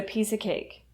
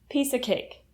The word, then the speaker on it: piece of cake: So for example, you could say, that exam was a piece of cake, which would mean that exam was super easy. Piece of cake. When you pronounce piece of cake, the of reduces to a.